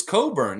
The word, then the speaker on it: Cockburn: it coburn lex um only a guy named cockburn would tell you i don't know it's coburn yeah it's coburn that's the normal pronunciation for that name the people that are